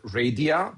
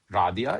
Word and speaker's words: Radia: I'm going to say the word is called radia. I know for most English speakers it will read like radia, but it's actually called radia. It's pronounced radia.